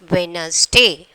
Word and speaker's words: Wednesday: Up to that only we are pronouncing. That N is the silent letter.